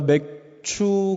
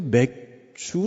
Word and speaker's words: 맥추: 번 감사를 드립니다 제가 맥추 감사절을 저 특별히 강조하는 것은 전에도 말씀드린 것처럼 발음이 별로 좋지도 않지만 자꾸 맥주 라고 발음한 것 같아서 성도님들이 도 시험의 드실 까봐 추라고 반음 하는 거니까요 오해하지 마시구요 이 감사절을